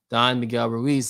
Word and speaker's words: Don Miguel Ruiz: Don Miguel Ruiz, that's his name.